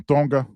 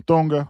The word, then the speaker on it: Tonga: He's from Tonga. You know what I'm saying? You don't pronounce the T, it's always pronounced like a D. You know what I'm saying? He's from Tonga.